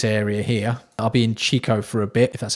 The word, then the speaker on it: Chico: be around this area here i'll be in chico for a bit that's how you say it